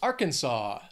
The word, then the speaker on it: Arkansas: hot next is Arkansas three syllables stresses on that first syllable Arkansas this is a common one that that people have a little trouble with because again don't don't think of the spelling don't try and pronounce it based on the spelling you could get all screwed up that final syllable sof saw Arkansas next is the